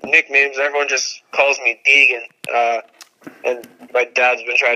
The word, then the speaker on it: Degen: Oh, yeah, it's pronounced Degen, so Degen.